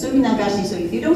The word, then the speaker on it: Suminagashi: than anybody else and without feeling like I mispronounce anything. It's Suminagashi, so if you don't say it right, I will sue you.